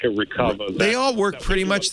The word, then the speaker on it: Recuva: So, but there's no other software comparable to like a Recover.